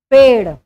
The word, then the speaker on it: पेड़: अगर हम उच्चारण करें पेड़, इसका उच्चारण डमरू के डा जैसा हो रहा है, यानी ये डा है, डाल डा, जबकि इसका उच्चारण हम पेड़ ड़ जैसा उच्चारण कर रहे हैं। ड़ जैसा जब उच्चारण हो रहा है तो हमारी जीभ जो है ऊपर टकराकर पलट रही है, इस तरह से इसका उच्चारण होगा, इसलिए इनको उच्छिप्त व्यंजन